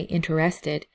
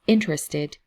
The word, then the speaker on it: interested: i hear people say interested but it's interested so and same thing with interesting it's not interesting it's interesting so the emphasis is on the first syllable so we say interested